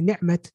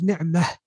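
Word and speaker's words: نعمة: So you have some languages, they say rahmat, they say ni'mat. But in Arabic, la. In Arabic, if you're going to say the word by itself, is ni'mah, rahmah.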